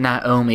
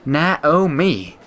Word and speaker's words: Naomi: good morning my dear it wasn't Naomi it was like Naomi yeah I pronounced it wrong I didn't know how